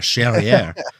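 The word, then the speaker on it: Charrière: Charriere. It rhymes with derriere.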